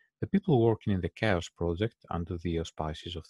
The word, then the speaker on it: CHAOSS: know better no yes chaos is the correct way to pronounce it the chaos project mhm